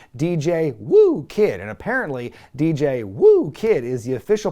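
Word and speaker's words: DJ Whoo Kid: daddy ass and dj woo kid and apparently dj woo kid is the official pronunciation early on lee's running the ropes doing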